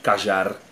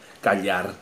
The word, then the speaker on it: callar: Pronunciado esse LL de forma diferente, você vai ouvir cajar, calhar, cachar, que os nossos vizinhos aqui argentinos falam.